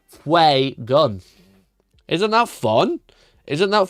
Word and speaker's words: Fuegan: him Fue, but then I started calling him Fugan because that's what other people called him. But it's actually pronounced Fue gun.